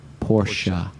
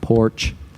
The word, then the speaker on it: Porsche: Pronounced Porsche. Not Porch.